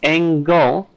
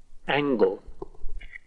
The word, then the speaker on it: angle: Now this is sound, so angle definitely has a G. Let's listen to how the British say it. Angle. Do you hear that G?